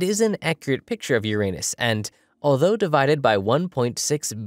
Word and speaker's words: Uranus: Yeah, I pronounce the planet's name Uranus, which is likely closer to the initial intonation of the name of the god after it was designated.